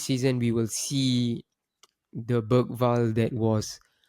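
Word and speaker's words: Bergvall: I think this season we will see the Bergval that was or Barry Val the man the the commentators always pronounce it as Barry Val. So I think it's Barry Val.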